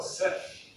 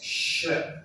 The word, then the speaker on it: ship: The next one is ship. Some people will say, "That's a beautiful sip. I like that sip. I'm going to go on a sip." Or other people will say, "That's a beautiful chip. I like your chip." It's ship.